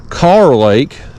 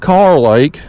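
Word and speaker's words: Kerr Lake: North Carolina people have educated me it is pronounced car Lake even there's another big splash over y they call it car Lake even though it is spelled cerr k e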